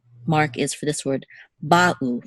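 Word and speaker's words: בָּאוּ: We don't want to say ba'u, we want to say ba'u. There should be a distinct pause between the two syllables, ba'u, not ba'u. They should not flow together, the two syllables. They should be distinct, ba'u.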